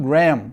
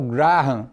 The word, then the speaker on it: Graham: leituras do Benjamin Barra na verdade a pronúncia Benjamin Graham né mas aqui no Brasil muita gente se habituou a usar o Garra E aí não vou